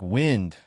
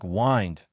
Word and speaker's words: wind: When you talk about the wind in the air, it sounds like wind with the I pronounced like in win. But when you're talking about winding up a clock, it sounds like wind with the I sounding like in find.